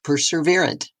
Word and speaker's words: perseverant: stay committed and are perseverant that word I swear that extra r that we pronounce that is not actually in the word drives me nuts now we're doing spelling